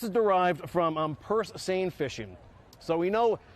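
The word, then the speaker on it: seine: derived from um per sane fishing so we know uh sane is spelled s-e-i-n-e like the river send over in France we pronounce same boats sane boats right and what they used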